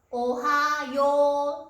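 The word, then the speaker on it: おはよう: Cách phát âm thực tế của nửa đầu là "オハヨー" với âm kéo dài (ō). Nhưng ký hiệu Hiragana hoặc Katakana chính xác là "おはよう" hoặc "オハヨウ."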